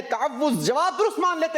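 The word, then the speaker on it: تَعَوُّذ: सही प्रोनाउंसिएशन है तअव्वुज़।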